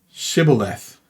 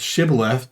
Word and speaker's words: shibboleth: they said all right say shibboleth if they said shiba left because they could not pronounce the word correctly they seized him and